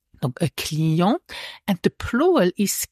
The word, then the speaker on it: Client: i e n t the final T is not pronounced a CLE and the plural is